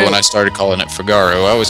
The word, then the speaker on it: Figaro: to figaro figaro whatever figaro i used to pronounce that fijaro just because i didn't really know i was like they're